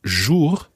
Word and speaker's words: jour: What we need to try and make sure is that that second syllable sounds very much like jour. Jour. Watch the vowel sound that you make there.